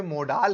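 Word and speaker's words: modal: और इस बात को आप जरूर ध्यान रखिएगा कि मैं यहां पर मोडाल कह रहा हूं, मॉडल नहीं। देखिए, मॉडल ये होता है, मोडाल ये होता है।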